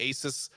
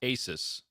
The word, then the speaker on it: ASUS: I think it's pronounced ASUS. ASUS. Or ASUS. Pegasus.